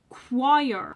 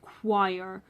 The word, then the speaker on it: choir: Now, at number seven, we have choir. Okay, this one I can see why people think it's hard because this one is pronounced completely different to how it is spelled, but it is pronounced choir.